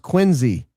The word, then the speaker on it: Quincy: And having been born in Quincy, Massachusetts, it's my sworn duty to make sure everyone knows it's pronounced Quinsey.